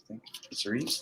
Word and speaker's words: Cerise: This is Cerise. That's how you pronounce it.